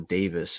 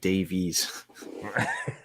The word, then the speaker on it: Davies: I was going insane when I heard the commentator say Alfonso Davis instead of Davies.